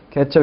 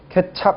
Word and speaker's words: 케첩: 케첩 이거 주의하셔야죠. 케찹 이거 아닙니다.